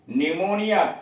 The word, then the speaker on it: pneumonia: निमोनिया, PNEUMONIA, निमोनिया, फेफड़ों का सूजन, P साइलेंट है।